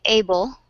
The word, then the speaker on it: able: Because you will notice, for example, if we write able, we have a vowel at the end after the L that we do not say, but you hear the schwa between the B and the L.